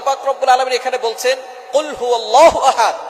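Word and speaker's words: قل هو: রাব্বুল আলামন এখানে বলছেন কুলহু আল্লাহু আহাদ এখানে কফ দিয়ে পড়ছেন কিন্তু অনেকেই ভুল করে উচ্চারণ সঠিক না হওয়ার কারণে তারা পরে কাফ দিয়ে কুলহু আল্লাহ ক শব্দের অর্থ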